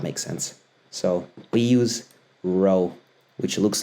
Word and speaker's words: rho: looks like that and it looks like a p it's pronounced row um I often like